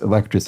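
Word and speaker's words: alacritous: Sorry, that's alacritus as in fast or speedy, probably with an S. That was a complete botch of that pronunciation initially.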